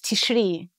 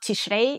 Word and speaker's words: Tishri: Then you need to postpone the beginning of the month of Tishri. Right. And the medieval pronunciation, by the way, is not Tishrei, it's Tishri.